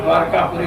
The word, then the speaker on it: द्वारकापुरी: कोस लंबाई चौड़ाई में द्वारकापुरी, इसका नाम द्वारकापुरी है, द्वारिकापुरी नहीं। पहले तो अपने एक समझ लेना चाहिए कि हम कम से कम तीर्थों का नाम तो शुद्ध उच्चारण करें।